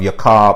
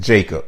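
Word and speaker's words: יעקב: a translated translation of your car or something yet say you're cold and then the englishman pronounce it Jacob but it's your car or you're cold in the original alright so I'm being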